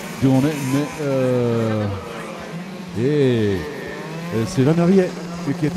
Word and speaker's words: Van der Riet: Mais c'est Van der Riet qui est à la troisième position. Vous pouvez le prononcer véritablement Van Riet, c'est la façon dont on doit le dire, même si vous êtes sartois d'origine mayonnaise.